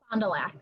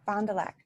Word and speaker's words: Fond du Lac: do you say the talent your town's name fond du lac fond du lac what is that tammy as the finale is